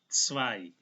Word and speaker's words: zwei: EI, sekali lagi EI dibaca I, Z dimulai dengan T dan S, jadi cara bacanya zwei.